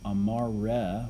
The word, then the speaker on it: amare: Amare with the E is to love.